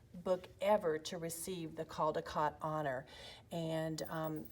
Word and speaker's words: Caldecott: American Library Association and they actually tweeted at one time that when you're saying it you it should rhyme with ball-like Caldecott but honestly some people say Caldecott some people say Caldecott they're both right is totally fine we're